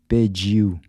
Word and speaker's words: pediu: Pediu. Remember the “d-i” is pronounced like the “j” in “judge”-“pe-diu”.